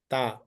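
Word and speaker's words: ت: Here, ta means it is very light sound, very easily can pronounce.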